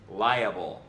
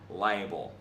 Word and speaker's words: liable: It's pronounced liable, not liable.